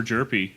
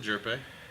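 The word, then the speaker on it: Hjerpe: Also, with the H is silent, by the way. Oh, okay. I said Jerpe earlier. Yeah, it's chirpy. but Jerpy.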